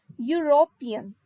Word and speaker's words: European: Here is the silent and the word pronunciation becomes European. So the first sound produced by this word is U, European.